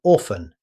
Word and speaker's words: often: Often, both pronunciations are accepted, but many native speakers say often, leaving the T silent.